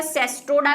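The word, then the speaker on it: Cestoda: हालांकि इसकी spelling CE ही है, ई लगा हुआ है इसमें, लेकिन वही सिस्टोडा हमने बचपन से पढ़ा, सिस्टोडा ही है।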